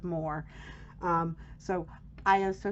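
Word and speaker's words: Moher: entire time i used i used to think they were called the cliffs of mohair but they're actually called the cliffs of moore um so i am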